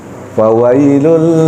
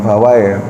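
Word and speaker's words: فويل: ketiga fawailul Lil musallin fawai ya bukan fawai Fa wa i faw fawai bukan fawaai tadi Saya dengar banyak yang bacanya bacaww faw pakai fawai faw Hah Ada ya iya faw kan faw faww fawailul bukan fawai bukan fawailul bukan fawail fawailul ynya berubah jadi i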